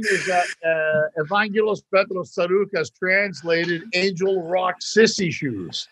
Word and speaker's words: Tsarouchas: You pronounce it Tsarouchas. Tsarouchas. Or Tsarouchas is what we put it.